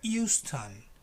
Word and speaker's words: Euston: It doesn't have an H. It's Euston.